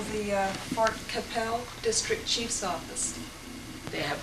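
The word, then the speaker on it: Qu'Appelle: It's July 25th to 29th in Capel, Saskatchewan. And they recommend, it's spelled Qu U A P E L L E. I think they recommend that you call the uh Fort Capel District Chief's Office.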